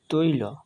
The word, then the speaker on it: তৈল: যেমন তয় ঐকার ল, তৈল, অর্থাৎ তয়ের সাথে ঐকার যোগ হয়ে তৈ হয়েছে আর ল সিঙ্গেল উচ্চারণ হয়েছে, সেই জন্য এর সম্পূর্ণ উচ্চারণ হবে তৈল।